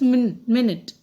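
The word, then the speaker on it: minute: नाउ in this I will tell you मिनट और माइन्यूट. माइन्यूट means क्या होता है, एक छोटी चीज, एकदम माइन्यूटली इसको ऑब्जर्व करो, that is माइन्यूट. And here is मिनट. Spelling कर सेम है. इट इज मिनट मीन्स जो आपकी यूनिट ऑफ टाइम होता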